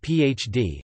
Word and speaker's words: PhD: The degree is abbreviated PhD, sometimes PhD in North America, from the Latin Philosophiae Doctor, pronounced as three separate letters.